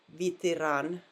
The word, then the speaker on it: Ветеран: Well, those E letters were clearly pronounced like E. Vitiran, right? Not veteran, but vitiran.